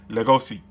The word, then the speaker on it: Legoshi: So instead of Legacy, like Legacy, it's Legoshi. So now I'm going to call him Legoshi.